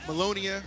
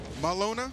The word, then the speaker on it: Melona: But either way, we got Melonia and Kona. Melona? There's no I, yeah. Oh, Melona. No, I said it wrong first.